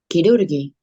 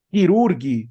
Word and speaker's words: chirurghi: Y la GHI en italiano suena como gui. Ojo, no como gui, suena como gui. ok. Entonces aquí, por ejemplo, yo, ¿cómo pronunciaría esta palabra? Chirurghi. Quirurgi, muy bien, muy bien.